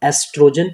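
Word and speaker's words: estrogen: होता है हमारा तो ये होता है एस्ट्रोजन यहां पे ओ साइलेंट होता है सो इसको हम एस्ट्रोजन प्रोनाउंस करते हैं सो आई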